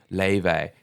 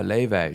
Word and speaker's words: Laufey: It's spelled Laufey. Laufey.